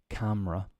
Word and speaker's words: camera: okay then we have yes camera the E is silent next is salmon silent